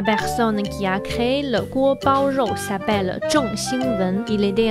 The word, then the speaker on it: 锅包肉: Comme on utilisait le feu fort pour chauffer la sauce, ce plat s'appelle donc guo bao rou.